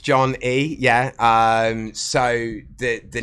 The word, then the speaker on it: Jon Ee: John E yeah that's that is correct not John E E uh no it's it just pronounced John E yeah um so the the name came from